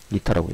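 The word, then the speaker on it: η: 그러니까 이게 알파벳으로는 n인데 네, 그리스어로는 2타라고 읽어요.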